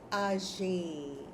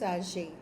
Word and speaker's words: âgé: So, for people, you will say ah jay.